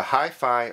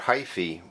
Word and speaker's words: hyphae: The Hyphae or Hyphae, pronounced two different ways, I looked it up, are the thin-like threads that go through your growing medium.